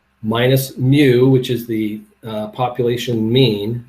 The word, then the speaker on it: mu: is Sigma Nu that's spelled mu and it's pronounced mu like a baby k cap okay so